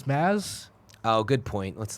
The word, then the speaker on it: Mads: I wish that I got a chance to hear It's not actually pronounced Mads, right? It's Maz.